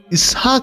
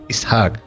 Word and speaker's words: ইসহাক: যার নাম হয় আইজ্যাক ইসহাক শব্দের উচ্চারণ ইয়াসহাক এটি হিব্রু ভাষার শব্দ আর আরবি অনুবাদ হয়